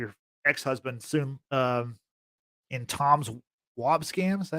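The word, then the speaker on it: Wambsgans: You have her husband, or maybe her ex-husband soon, in Tom's Wobsgams. Is that how you say his name? Yeah, Wobsgams, who's played by Matthew Macfadyen, which Matthew Macfadyen,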